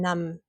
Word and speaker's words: numb: So, for example, the word bee, you have comb, climb, numb. So you don't say the bee.